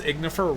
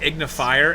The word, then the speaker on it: Ignifer: great yeah and also you could not pronounce ignifer right at all you kept saying ignifire and it was wrong and it was bothering